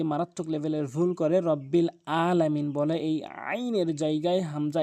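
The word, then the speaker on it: العالمين: লেভেলের ভুল করে রাব্বিল আলামিন বলে এই আইনের জায়গায় হামজা এনে উচ্চারণ করে আইনটি হলকের মাঝখান থেকে চাপ দিয়ে উচ্চারণ করতে হবে রাব্বিল আলামিন আলামিন আশা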